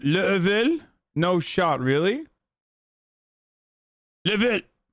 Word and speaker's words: Laval: It's pronounced Level?